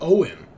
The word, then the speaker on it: Oin: Yes, it's Irish. It's just Irish. Oh, okay. I've never, and they pronounce that Owen.